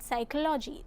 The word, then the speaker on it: psychology: In the word psychology, the letter P is silent.